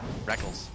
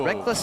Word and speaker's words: Rekkles: 5, the Rekkles and Reckless debate was in full swing. I still want to call him Rekkles, but I've just gotten so used to calling him Reckless because he says so.